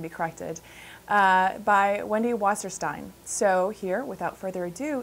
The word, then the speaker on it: Wasserstein: She grew up in Brooklyn, though, so she pronounced her last name Wasserstein.